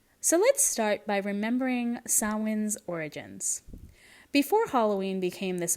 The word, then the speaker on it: Samhain: It is pronounced sin.